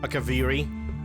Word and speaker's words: Akaviri: nordic not ancient nor the ancient kivari akaviri that's actually how it's supposed to be pronounced um right i have